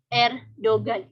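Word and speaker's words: Erdoğan: pengucapan emak-emak emas terus G atau Muzakki ini tidak dibaca kalau sudah di dalam suatu kata gitu contohnya itu ada Erdogan gitu kalau Erdogan Islam Indonesia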